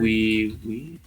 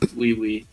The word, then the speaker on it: Oui: It's spelled like I think the French word. We. No, like OUI. Oh yeah. No, yeah. It's called Nighttime Wee.